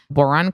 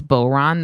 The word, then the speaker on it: Boiron: Boron Camellia brand has been trusted for over 30 years.